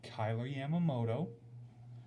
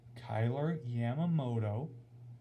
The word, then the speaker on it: Kyler Yamamoto: Now, for those of you that watched the game on AHL TV, I'm going to pronounce the names correctly for you. It's Kyler Yamamoto from Sam Gagne and Cooper Marody.